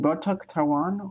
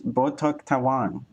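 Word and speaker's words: botok tawon: Is it bok tawan or is there a different inflection? Hungarian. No, that's not it. Indonesia. I was right. Botoan. And the Indonesian dish. Botok Taiwan from central and east Jada.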